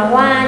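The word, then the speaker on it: は: đó là Watashi wa, vẫn là chữ wa của trợ từ nên đọc là wa nha, không đọc là ha đâu ạ.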